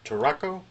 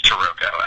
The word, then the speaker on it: Tarocco: you pronounce the name tacco uh it's it's tooco actually okay coming from the too panes which is a a predecessor to terot so if you just